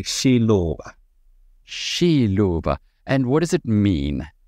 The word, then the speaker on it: Xiluva: I say it correctly no it's a Shiloh and what does it